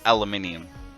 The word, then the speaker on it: aluminium: Ali short for aluminium oh no it's it's aluminium absolutely 100% it's not aluminum look